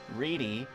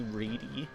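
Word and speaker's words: Wrede: Reedy. You actually do pronounce the E at the end as a long E, which I think is kind of funny. Patricia C. Reedy.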